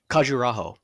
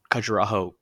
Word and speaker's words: Khajuraho: Um, make sure I pronounce it correctly. Khajuraho.